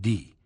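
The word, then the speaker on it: Die: It was 7 miles further to the village of D. He knew well enough not to pronounce it the English way, D-I-E, but the coincidence of the name occurred to him.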